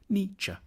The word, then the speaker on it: Nietzsche: The first bit should sound like ni, the second like ch, Nietzsche.